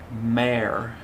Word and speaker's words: mare: mare mare air mare it's kind of confusing because if you took away the m it would be r but it's actually pronounced mare mare and the baby horse